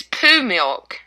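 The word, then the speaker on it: PoohMilk: The first one is poo milk, and it's not spelled like poo, like poop, poo. It's like Winnie the Pooh. Right, exactly. POOH milk.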